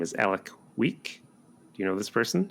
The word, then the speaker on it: Alek Wek: I think her name is Alek Wek. Do you know this person? She's a supermodel. ALEKWEK, like Alek Wek.